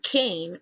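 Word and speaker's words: קין: The name Cain is found in Strong's H7014. It is pronounced there as Cain, which is Kof Yod Nun, which is Kyn.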